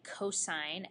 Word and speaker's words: cosine: the way to write cosine as shorthand would be cosos not pronounced C but cosine cosine of theta is